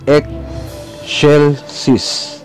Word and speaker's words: Excelsis: Ito ay binibigkas na X. Halimbawa, Excelsis. Ito ay Excelsis.